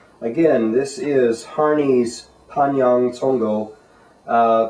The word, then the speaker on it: Congou: this is hary's Pang tongo uh tongo is a uh fuan cantones somewhere in there uh pronunciation of kung fu Gung Fu meaning